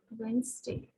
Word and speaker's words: Wednesday: say it as a witness but the correct pronunciation for this word is wednesday okay so e um sorry the t in